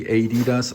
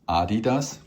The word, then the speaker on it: Adidas: Now we all know Adidas. How it's pronounced here in the United States. It's if you want to pronounce it correctly, Adidas. Of course, it's pron pronounced Adidas.